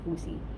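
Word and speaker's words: jusi: J-U-S-I. O, parang sa Lin H ang pagkabasa.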